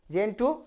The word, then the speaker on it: Gentoo: আমরা এখানে বুঝে নিই, এ কোড, এখানে যদি উত্তরটা আমি এভাবে দিয়ে করে দিতে পারি, এ কোড অফ জেন্টু লজ, GENTOO, উচ্চারণ কিন্তু জেন্টু লজ।